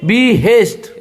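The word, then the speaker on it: behest: ये लकीर जो है हिंदी में उसको हम बोलते हैं बलाघात, इंग्लिश में बोलते हैं स्ट्रेस। तो बी हेस्ट क्या बोलेंगे? बी हेस्ट। एक बार फिर से उसका उच्चारण सुन लीजिए।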